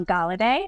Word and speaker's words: Golladay: And today we have with us Michelle Gal. And she told me it's like holiday but with a G.